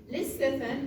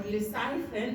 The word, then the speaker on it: lecithin: Because lecithin or lecithin, depending on which pronunciation you like, so lecithin is actually phosphatidylcholine.